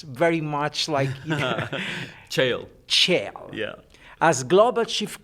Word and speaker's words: Cheil: As the head of, the sail, I never actually can pronounce very much Cheil.